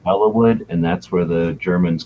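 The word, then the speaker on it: Belleau Wood: I guess it's pronounced Bellawood, and that's where the Germans coined the term devil dog.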